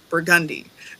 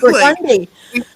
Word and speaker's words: Burgundy: to say it now we pronounce it burgundi burgundi yeah we pronounce things